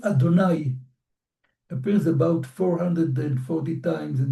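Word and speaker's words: יהוה: Tetragrammaton, Yodei Vav Hei, which according to the practice of reading the Bible in Israel since the middle of the Second Temple period, is pronounced Adonai because of its holiness.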